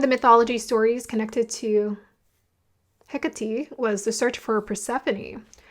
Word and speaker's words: Hecate: Oh, her name is Hecati.